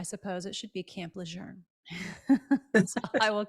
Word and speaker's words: Lejeune: it correctly I suppose it should be Camp Lejeune so I will correct myself on that um